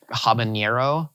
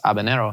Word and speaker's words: habanero: Like, I'll hear a lot of people say like habanero. That's an entirely different letter. There's no enye. And the enye and the n are entirely different letters within Spanish. And so you're just fully missing pronunciation by trying to, I guess, overshoot. And it's just habanero, I didn't know that.